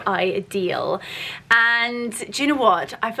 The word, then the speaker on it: Idyl: So the brand is pronounced Idyl, and they specialize in the most beautiful diamonds, but an affordable price point.